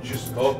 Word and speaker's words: чисто: Чисто. Ты хотя бы ударение правильно ставь. Чисто.